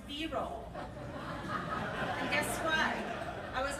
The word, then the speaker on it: B-roll: It's observational footage, but it's not pronounced brole, it's pronounced B-roll.